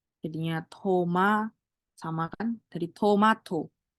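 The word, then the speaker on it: 토마토: Toma sama kan jadi Tomato itu bukan Tomato bukan tapi tomato gitu berikutnya adalah ini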